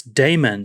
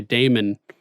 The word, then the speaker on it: Daemon: us dean says duncan it's damon spelt like mon but sounds like man you're killing me saying